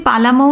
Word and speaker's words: পালামৌ: যশবন্ত একদিন পালামৌ নামের ব্যাখ্যা শোনাচ্ছিল। পালামৌ নামটার আসল উচ্চারণ পালামু।